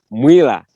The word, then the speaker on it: Mwila: But the pronunciation there in Luvale we say Mwila. Mwila. The Bembas say Mwila.